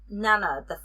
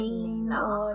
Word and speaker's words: Nena: So Nana, the main character, her name is spelled Nena, so I would have pronounced it Nina in my head or whatever.